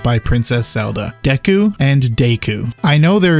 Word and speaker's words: Deku: the Kingdom, we have Princess Zelda once again referring to him as Deku.